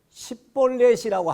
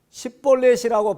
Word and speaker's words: 십볼렛: 그런데 에브라임 사람들은 요 시옷 발음이 안 돼요. 십볼렛 발음이 안 되고 자기는 십볼렛이라고 발음을 한다고 하는데 실제로는 십볼렛하고 쌍시옷 발음이 나오는 겁니다.